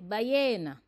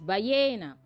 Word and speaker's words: ballena: In Spanish, we say ballena because the double L's are silent and pronounced as Y. So it's ballena.